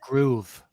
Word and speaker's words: Gruev: I think he pronounced himself Groove. Yeah, Groove.